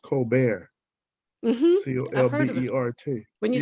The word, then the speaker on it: Colbert: a coke it's pronounced it looks like cold bird on my mom's side but it's pronounced cold bear c-o-l-b-e-r-t when you said